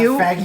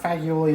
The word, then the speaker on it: fagioli: It's not fagioli. You looked it up? Brittany looked it up. It's not fagioli, it's fagioli. So pasta e fagioli.